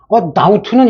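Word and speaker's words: doubt: 다우트는 이게 발음할 때 B를 안 하는데 다우트 안 하는데 왜 이게 그냥 발음 안 하는데 이걸 B를 살려놨을까?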